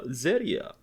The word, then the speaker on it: Zeria: And last but not least, we have Zeria. Hey, yeah. You don't have to pronounce it with a Japanese R, but you know.